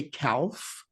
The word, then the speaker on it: calf: but you don't say calf right so why didn't they just leave it like k-a-f because that's how it sounds calf right so what's this whole thing about a silent letter silent l can